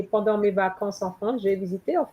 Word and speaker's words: mes vacances: You cannot have a holiday singular in mes you don't pronounce the S. Mes vacances with an S at the end.